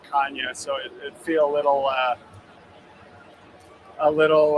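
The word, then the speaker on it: Canha: yesterday last name oh oh it's Kanye technically yeah yeah so the NH is like the Anya in Spanish nice we said Canada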